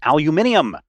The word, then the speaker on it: aluminium: And then when you go out and other people are like, no, it's pronounced aluminium, then you really figure out the correct way.